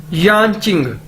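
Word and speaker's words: 眼睛: यानचिंग, YAN, यान, JING, चिंग। Chinese के अंदर जे को हम चे के तौर पर प्रोनाउंस करते हैं।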